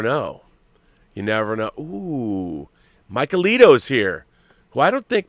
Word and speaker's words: Mikeylito: How is it properly pronounced? Mikeylito.